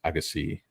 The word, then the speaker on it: Agassi: It's Agassi.